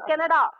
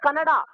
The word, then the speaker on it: Kannada: This is not Canada. This is Kannada.